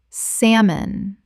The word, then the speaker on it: salmon: Word 185 salmon Common mispronunciation salmon Correct pronunciation salmon The l is completely silent. Two syllables only.